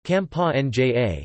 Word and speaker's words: Campania: Campania, Italian pronunciation, Campania, is a region in southern Italy.